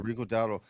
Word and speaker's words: Rico Dowdle: Yeah, Rico Dowdle.